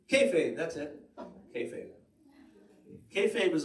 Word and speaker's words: kayfabe: It's hard to pronounce, right? Kayfabe, that's it.